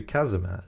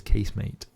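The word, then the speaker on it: casemate: that's spelled case mate but the word's French so it should be kazm kazm shouldn't it but everyone know it says casem mate cuz that's how I spell it I feel like if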